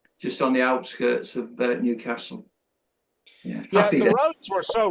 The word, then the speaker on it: Newcastle: But pronounced as Newcastle rather than Newcastle.